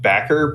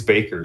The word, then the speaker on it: Bakker: So, I always called it Backer, but after listening to interviews, it is Baker.